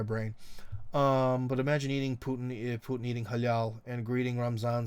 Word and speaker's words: halal: So halal is that the way we're supposed to say it in English? Halal. Well, in Russian it's halal.